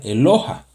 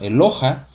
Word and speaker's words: Eloha: Y la palabra que originalmente habla de singular Dios sería Eloha. ¿Sí? Se escribe de la siguiente manera.